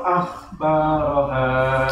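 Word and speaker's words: أخبارها: Jadi ditebalkan ya. Akhbaraha. Tapi A-nya, pengucapan A-nya tetap sempurna. Iya, iya. Jadi nggak kepengaruh dulu sama huruf kha-nya. Jadi kalau pengaruhnya A-nya juga ikut tebal.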